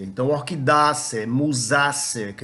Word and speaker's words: Orchidaceae: Ou então, todas as famílias são terminadas em acer. É assim que a gente pronuncia. Então, Orchidaceae, Musaceae, que é da